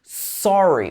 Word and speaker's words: sorry: It should be sorry with its O sound. I've talked about this before. It's very particular to received pronunciation.